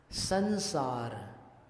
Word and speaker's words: संसार: संसार, कैसा हुआ उच्चारण बिंदी का? न जैसा हुआ ना।